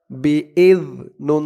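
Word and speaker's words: بِإِذْنِ: B Hamza জাল জের জালের উচ্চারণটা একদম নরম হবে জিহ্বার মাথা উপরের দাঁতের মাথার সাথে লাগবে জালের উচ্চারণটা করার সময় বিজ নুন জের নিই বিজনি ফিহা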